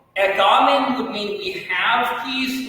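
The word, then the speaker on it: ἔχομεν: You see the O-looking thing in Greek, that's called an omicron, and that's pronounced ekamen, and that's what's called a present active indicative verb, which would mean we have peace with God.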